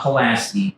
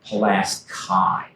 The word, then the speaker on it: Pulaski: Not Pulaski, Pulaski.